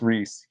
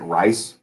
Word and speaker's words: Rhys: though people like a lot of times people mispronounce it, they pronounce it rice, which is where the English name rice comes from. It's from people Oh mis wow, that's Reese.